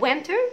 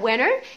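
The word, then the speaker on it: winter: فلا اما اسمها وينتر وتعلق الار، لا اما اسمها وينر لانه الان لما بيكون بعديها دي احنا قلنا لا تنطق، حتى برضو في كلمه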